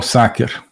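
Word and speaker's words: sacer: que é o homo saker né homos saker uso aqui a pronúncia restaurada do latim né a pronúncia eh eclesiástica seria homo né mas o homo saker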